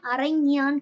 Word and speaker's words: அரைஞான்: அதே மாதிரி அண்ணா கயிறு அப்படின்னா அரைஞான் கயிறு அப்படின்ற மாதிரிலாம் சொல்லுவோம்ல.